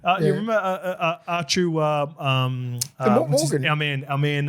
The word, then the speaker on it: Arthur: I think he's the it's pronounced Archu over there. You remember Archu um our man our man um when we played there.